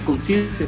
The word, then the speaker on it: Conscientia: y dice así entonces se pronuncia conciencia como dices tú entonces así es como